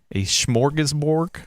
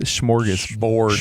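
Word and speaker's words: smörgåsbord: I think it's the English pronunciation of what is a Swedish word.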